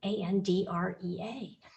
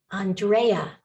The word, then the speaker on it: Andrea: name that is spelled a n d r EA and some of them pronounce it Andrea where they put an emphasis on the middle syllable and some of them